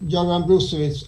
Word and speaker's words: Göran Brusewitz: By myself, Dr. Göran Brusewitz, as it is pronounced in Sweden.